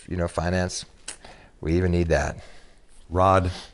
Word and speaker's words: Rawd: Rod Jones, and the Rod is spelled R-A-W-D.